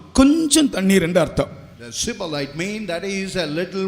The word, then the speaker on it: Shibboleth: you say Shibboleth.